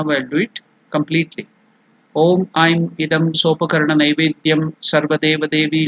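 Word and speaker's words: ऐं: So it is Aim. Just like Nai, it is Aikara. Aim or Aing. In the nasal Aing or Aim. If it is separately chanted, then it is to be completely pronounced as Aim.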